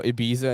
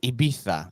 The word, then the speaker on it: Ibiza: That's kind of like when you go to, you know, Ibiza in Spain, and then like, no, it's pronounced Ibiza, and you sound like an asshole.